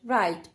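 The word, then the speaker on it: write: डब्लू आर र आइट राइट यहां पर डब्लू आपका साइलेंट हो जाएगा और आर का साउंड आएगा राइट एफ आई एल ई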